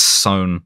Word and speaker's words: Son: Apparently, it's Sohn, like rhymes with bone.